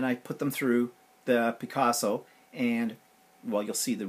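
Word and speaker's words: Pikazo: a second, is the Picassos. And actually that's the name of the app. It's called Picasso, but you spell it P-I-K-A-Z-O, and it's a lot of fun to use.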